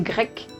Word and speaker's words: grecque: donc pourquoi c'est simple si on applique la règle générale d'ajouter un e alors on ne va plus prononcée grecque mais grèce et graisses correspond au nom du pays donc pour ne pas avoir de confusion on a décidé d'ajouter qu eux qui se prononce que pour conserver cette prononciation de grecs et pour turc c'est